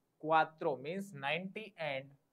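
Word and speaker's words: cuatro: ई एन टी ए नवता ई four is क्वात्रो सी यू ए टी आर O four क्त्र नवता ई क्वात्रो means 90 एंड फ नवता ई क्वात्रो 9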